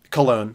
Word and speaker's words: Cologne: for the trip to what is this kogy cologne colog colog Cologne Germany you know I was like that is spelled like cologne but they wouldn't name